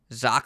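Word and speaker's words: Zok: care of that myself zoc fox now it's like sock but with a z ironically not wearing any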